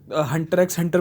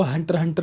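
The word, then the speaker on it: Hunter × Hunter: अब ये बहुत ज़रूरी है क्योंकि कई लोग इसको हंटर एक्स हंटर प्रोनाउंस करते हैं, लेकिन अगर आप इसकी ऑफिशियल प्रोनाउंसिएशन देखेंगे नेट पे तो इसको हंटर हंटर बोलते हैं, ना कि हंटर एक्स हंटर।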